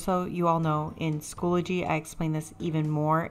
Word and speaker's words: Schoology: Hey, editing Miss Har here, and I just want everyone to know that it's not Schoolology, it's Schoology. I know I've been saying it wrong, but it is Schoology, just so y'all know.